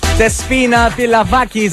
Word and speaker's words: Despina Pilavakis: Despina Pilavakis. Am I pronouncing that right? Yeah, she said. What was that guy? What's that guy's name who does those announcements on X Factor? Despina Pilavakis.